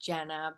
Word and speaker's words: Gena: Uh so it's pronounced Jenna, but it's spelled Ge Na. So just if you know my name, and then my last name is. If you know my name, Jenna, it's pretty easy to find.